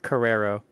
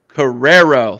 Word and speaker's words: Cararo: to mess your last name up so is pronounce it for me uh Carrero Carrero thank you very much Dalton I appreciate that